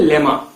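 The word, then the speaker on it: lemma: तीसरा हमारा टर्म है लेमा। लेमा या फिर लीमा, दोनों हम लोग प्रोनाउंस करते हैं, लीमा या फिर लेमा।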